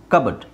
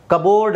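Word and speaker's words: cupboard: silent P ತೆಗೆದು ಹಾಕಿಬಿಡಬೇಕು ಸಿ ಯು ಬಿ ಓ ಆರ್ ಡಿ ಕಬಡ್ ಕಬೋರ್ಡ್ ಅಲ್ಲ ಕಬಡ್ ಹಾಗೆ ಇಲ್ಲಿ ಪಿ ಸೈಲೆಂಟ್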